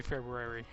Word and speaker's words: February: Maybe February. February. There's an R after B, and that's what I'm trying to pronounce. But I think normal people say February, and I'm just being weird.